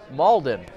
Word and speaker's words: Malden: Is that the correct pronunciation? Malden. All right. Does everybody want to add the extra accent? No? All right. Well, Malden.